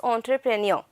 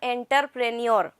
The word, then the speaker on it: entrepreneur: to use it and the pronunciation over here is entrepreneur not enterpreneur it looks very shabby